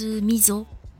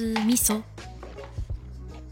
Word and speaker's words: miso: voici le missau japonais en France cela se prononce miso mais en réalité cela se prononce misso c'est une pâte de